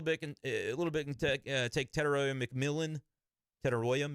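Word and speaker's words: Tetairoa: Tedoya McMillan I believe is how you say that. Is it Tenoya? Tedella. I'll try to get some confirmation on that. I know it's not Tet. He doesn't want to be called that.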